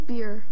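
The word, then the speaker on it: bier: Homophones have the same pronunciation, but different meanings and origins. For 10 points, give me the common pronunciation of the two homophones that mean the frame on which a coffin is borne to the grave, and that's Liberty Laura. Beer. Beer, we will accept.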